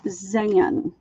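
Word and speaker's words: Xyan: Z little it's XY a n and it's pronounced Zan like ZN and it was just that curious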